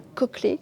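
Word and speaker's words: cochlée: l'escargot qu'on appelle la coquelée qui s'écrit cochelé mais se prononce coquelé et là ça il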